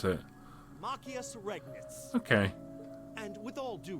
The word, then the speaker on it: Machias Regnitz: Alright, how do you pronounce it? Machias Regnitz.